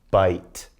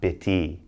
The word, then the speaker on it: bite: short vowel I so again silent e comes in bite not bitty bite going on there now